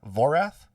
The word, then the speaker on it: Voraath: one am i saying the name right uh vorath you nailed it actually yes beautiful usually i pronounce things wrong i mean it's a dice